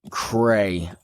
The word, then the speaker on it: Cray: Cray. It's not that difficult. Cray rhymes with hey, and, which describes how I feel whenever I hear you call me.